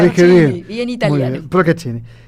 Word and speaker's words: Procaccini: Y me encontré, lo voy a pronunciar mal, porque siempre lo pronuncio mal, que es Luciana Procaccini. Sí, muy bien, lo dije bien. Bien italiano. Bien, Procaccini.